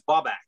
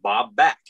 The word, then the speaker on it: Babak: My given name is Babak. It's spelled B-A-B-A-K, which is not phonetically spelled because it's pronounced Bob and back, like Bob back.